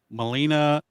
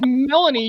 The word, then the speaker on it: Melanie: Molina Collins. CBS. I believe it's pronounced Melanie, you hick.